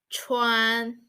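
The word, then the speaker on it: 川: do you notice your your lips push forward a little bit to form a small circle so this is a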